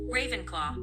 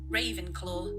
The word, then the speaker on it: Ravenclaw: The third house, first in the US accent, Ravenclaw. British, Ravenclaw. Ravenclaw.